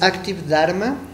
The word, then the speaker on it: Active Dharma: Es Active Dharma. Active, como si dijeras activo en inglés, y Dharma se escribe D-H-A-R-M-A, ¿no?